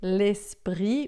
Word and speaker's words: l'esprit: E lespri, aqui a gente vai fazer lespri, o t a gente não diz, o r dois rs.